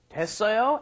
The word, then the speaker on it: 됐어요: That's because it is 됐어요 and 되었어요. You just kind of drop the ut part and you get 됐어요.